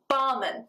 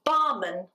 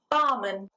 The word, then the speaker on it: barman: Well, in fact, the pronunciation, barman, barman. You've got a schwa at the end, so it's not barman, it's barman, barman.